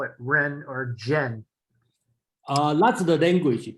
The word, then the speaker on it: 仁: Okay, and today I will do is I will make it a standard as Ren, R-E-N, okay, as a proper way to do it.